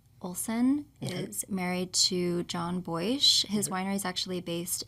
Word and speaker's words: Boich: house — and then Boich Winery. How do you spell it? B-O-I-C-H. Thank you. I thought like “boyish,” but Boich.